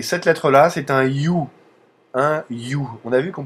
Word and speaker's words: Ю: la fois euh les aspects sensoriels de la prononciation du youu et le côté visuel qui ce qui ne